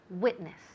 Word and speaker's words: witness: Now, the emphasis falls on the first syllable. Witness.